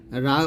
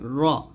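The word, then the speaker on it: ر: উপরে তালুর সংখ্যা লাগিয়ে র উচ্চারণ করতে হবে আমরা অনেকেই এটাকে বলি এরকম রা উচ্চারণ করি তো এই যে আকারটা এটা আপনারা ব্যবহার করবেন শুধু এরকম র বলবেন র মোটা করে বলবেন র ওকে আমার সাথে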